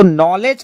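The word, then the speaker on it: knowledge: तो नॉलेज के स्पेलिंग आपको चेक कर रहे हैं, नॉलेज का मतलब ज्ञान, है ना। यहां नॉलेज में डी जो है वो साइलेंट होता है, हमेशा ध्यान रखिएगा।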